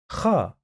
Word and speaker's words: خ: Kha, kha, kha. The closest sound to this letter is when you snore at night.